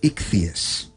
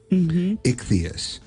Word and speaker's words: Ichthys: It's the ichthyos is the name of it.